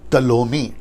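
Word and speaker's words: Ptolemy: उसके जो 4 जनरल हैं वो है सिलेकस, फिर उसके बाद में है लियासेमेकस, फिर उसके बाद में कैसेंडर और टलोमी। प्रोनाउंसिएशन ठीक से देना, टॉलमी, ठीक है ना।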